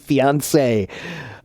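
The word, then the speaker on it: fiancée: So, yeah, Irina, again, those 2 words, those are pronounced the same. Fiancé and fiancé.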